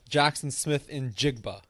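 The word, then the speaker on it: Jaxon Smith-Njigba: Jackson Smith in Jigba is the correct There we go.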